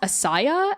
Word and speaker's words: Asaya: Is it pronounced Asaya and Ilias and Oktai? Or are there different ways to pronounce them? That's all correct.